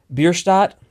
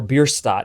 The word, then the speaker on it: Bierstadt: Bierstadt, or Bierstadt, depending how you want to pronounce it, is one of my favorite artists of all time.